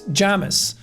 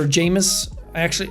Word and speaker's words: Jamis: Because the movie ends after Paul fights Jamis, or Jamis. They call him Jamis in the movie, I think.